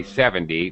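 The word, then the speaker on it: seventy: words however in reality okay now 70 is right that's how we say 70 much more stress in the beginning 70 but normally when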